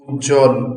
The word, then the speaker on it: উজ্জ্বল: থাকবে দপ্ত হবে না আবার বফলা কখনো উচ্চারিত হয় না যখন যুক্ত বর্ণের মধ্যে আসে যেমন উজ্জ্বল যদি এটা মাঝে এসেছে